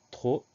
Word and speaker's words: trop: Les deux premiers sons qu'on entend, le T, le R, se traduisent par un T et un R, donc TR. Ensuite, on entend O, et à la fin, il y a une lettre muette, P, une lettre qu'on n'entend pas.